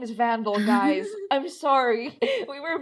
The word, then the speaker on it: Van Dahl: is his name no his name is vandal like van and then it's like doll spelled like roll doll i don't know if